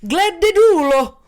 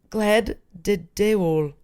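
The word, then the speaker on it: Gledelig jul: Where, when you say Merry Christmas, it's Gleddedulo. That's not how you say it. Gleddedeul.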